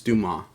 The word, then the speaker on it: Dumas: I know I said Dumas because I just read how it's spelled sometimes when I'm in the go, but it's Dumas.